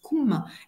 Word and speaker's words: cum: Ce préfixe latin cum, qu'on prononce cum, est à l'origine du con, col, corps, etc.